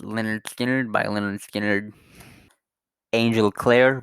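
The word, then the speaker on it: Lynyrd Skynyrd: It's pronounced Leonard Skinner by Leonard Skinner.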